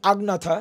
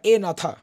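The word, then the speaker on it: Agnatha: এ নাথা এ মানে এটা আমি যদি বলি উচ্চারণ করি আগ নাথা এই যে আগ আগ নাথা বাট একচুয়ালি এটা এ নাথা মানে হচ্ছে এ মানে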